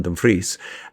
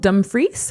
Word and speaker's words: Dumfries: So, if you read it like the Americans do, they would read it as dumb fries but it's actually Dumfries.